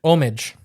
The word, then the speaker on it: homage: I think it's accepted as both. But I think homage. Homage? No, I think you pronounce the H as the actual.